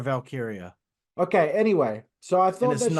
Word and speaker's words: Valkyria: valkiria well then they it's not Ty Valkyrie it's Lyra valkyria okay anyway so I